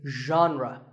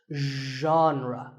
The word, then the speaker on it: genre: the correct pronunciation is genre pay attention to the first sound it's like but you have to put your voice into it genre genre next up is actually